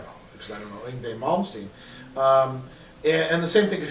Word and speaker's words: Yngwie Malmsteen: But I think if you're talking about like Yngwie Malmsteen, and you said it right.